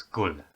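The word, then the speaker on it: gud: in danish people say gul it writes good but in danish most of the time the d at the end of a word is pronounced like an l so it's gul in norwegian in swedish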